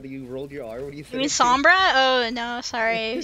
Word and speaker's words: Sombra: do you mean yeah that you rolled your R what do you think I mean Sombra oh no sorry you